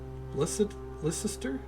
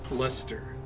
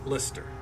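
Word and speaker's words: Leicester: Listister. How do you say that? I'm it up. Okay. Pronounced Lester. Okay. Lester.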